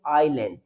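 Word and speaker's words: island: इसको जैसे यहां पे लिखा है आई एस एल ए एन डी तो हम इसको रीड करेंगे आइलैंड। इसको रीड करेंगे आईल यानी कि एस लेटर साइलेंट है।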